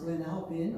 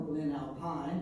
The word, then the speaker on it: Glen Alpine: We are looking at Glen Alpine, and it's pronounced Glen Alpine or Glen Alpine. The locals say Glen Alpine, and you can tell where a person's from if they say Glen Alpine.